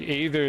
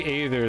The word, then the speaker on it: aether: or like an ather sound like aether is the other word and that's just kind of like it's just an a and an e sound back to back is kind of like how I pronounce that like that's that's I think aether is the word that I would like draw that from there's another